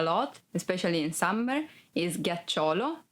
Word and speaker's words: ghiaccio: Ghiaccio, ice. Ghiaccio, ice. Be careful because if you don't pronounce G as a hard sound like G, it would be giaccio, that it's a verb and means lie down.